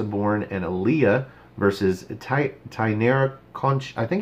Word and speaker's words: Conti: But they've started pronouncing it Conti because that's how it's spelled. I think somebody was listening. Yeah. Because I talked about this. If you're going to spell it Conti, it would be nice if it was pronounced Conti. If it's going to be Conchi, spell it with just a C instead of a CH.